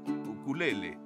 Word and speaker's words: ukulele: Saben, creo que es ukulele, así es como se pronuncia correctamente.